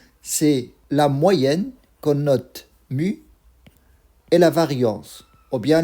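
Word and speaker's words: μ: Cette lettre, on la prononce mu, c'est la moyenne de x, de notre variable aléatoire.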